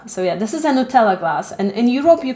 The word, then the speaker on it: Nutella: after a hazelnut spread it rhymes with uh cinderella so yeah this is a nutella glass and in europe